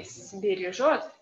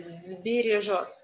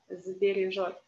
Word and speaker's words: сбережёт: That's why this S that we pronounce without voice should be transformed to z, yeah? So you cannot say сбережёт. Well, maybe you can say, but better to say сбережёт, сбережёт.